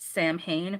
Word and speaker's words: Samhain: It's pronounced Samhain, but it's spelled Samhain, but it's pronounced Samhain, which means summer's end.